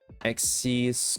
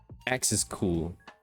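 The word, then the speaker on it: Xiscool: Axis cool. Axis. Oh, you know, Axis is cool. X is cool. What am I saying? It's just X is cool.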